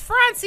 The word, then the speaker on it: Francia: It's Francia. It's Francia. It's You're killing me. It's Francia, hard C.